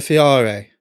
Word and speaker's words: Fiore: It's a Fiori. Oh, sorry. Yeah, because you It's an Italian name. So, do you want to pronounce it how it should be? Fior.